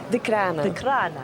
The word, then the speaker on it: Decraene: Say it right? Decraene. That's right. I had the wrong emphasis again.